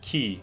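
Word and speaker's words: 木: You pronounce it ki, that means tree.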